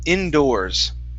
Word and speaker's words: indoors: So instead of indoors with an OR sound, it's OR. Indoors. Just an OR. Indoors. Indoors. All right, now give me a good D. Instead of doors, indoors, it's indoor. Indoors. Indoors. Okay, almost. So you're pronouncing a Spanish D, saying indoors.